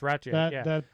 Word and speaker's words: Rathjen: I heard the pronunciation on on the classic. Yeah. Yeah, it's Rathjen.